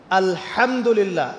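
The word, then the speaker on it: الحمد لله: এইতো আপনি পড়ছেন আলহামদুলিল্লাহ। শব্দটা কি? আলহামদুলিল্লাহ। এই হা এর মাখরাজ কোথায়? হা এর মাখরাজ কোথায়? বলেন একজন কন্ঠনালীর মাঝখান থেকে এখান থেকে আপনি উচ্চারণ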